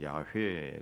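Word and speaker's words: 야훼: 그 히브리어로 의하면 야회 그런데 야회라고 하는 발음 내기도 쉽지 않고 예.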